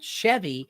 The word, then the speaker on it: Sheavy: Like he got me into a band called Chevy, but it's spelled Sheavy, and they're kind of like a doom metal.